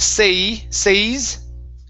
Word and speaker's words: says: use this one here so instead of say say okay it's a short e sound it's e says okay Nick says says yep